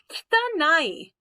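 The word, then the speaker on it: きたない: All right, kitanai. Kitanai. That E sound, the kitanai, that's what we call a voiceless vowel.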